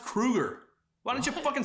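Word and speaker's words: Kroeger: It's pronounced Kruger.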